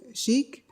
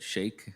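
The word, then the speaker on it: Shaikh: next delegate uh shik Scaro Muslim Association welcome and E5 Miss pronounced your name please correct me it's all right Shake is the last name okay Mr Shake please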